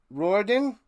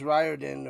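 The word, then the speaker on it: Riordan: Roorden. That's how you say it.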